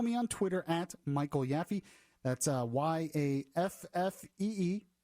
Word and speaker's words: Yaffe: an actual last name it's not yappy it's a lot of people think it is so I just wanted